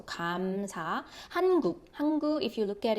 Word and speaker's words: 감사: So if it's in the initial position, it sounds similar to God. So 감사.